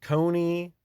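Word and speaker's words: Coney: back then too um Cony rhymes with phony and Cone a cone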